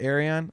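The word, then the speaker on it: Ayreon: Oh man, Arion, I love that stuff. Oh, is that how you pronounce it, Arion?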